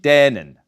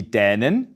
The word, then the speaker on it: Dänin: Ein Mann aus Dänemark ist der Däne und eine Frau ist die Dänin.